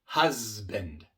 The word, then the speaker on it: husband: La B es una consonante sonora porque al pronunciar la B utilizamos las cuerdas vocales B, B. Y por eso la S que viene antes de la B viene siendo sonora también. Husband. No es husband.